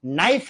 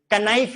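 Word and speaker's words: knife: तो फिर आप देखो नाइफ है कि कनाइफ है यही समझ में नहीं आ रहा।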